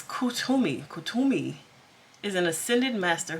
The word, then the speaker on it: Kuthumi: Kuthumi can pronounce Kutumi.